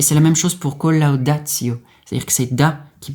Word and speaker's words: collaudatio: Mais là, on ne dit pas collaudatio, mais c'est collaudatio.